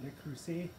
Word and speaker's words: Le Creuset: My Le Creuset pot, that's how you pronounce it, Le Creuset.